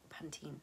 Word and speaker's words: Pantene: Gold Series this is from panten Pantene depending on how you say it I say panten um I have wanted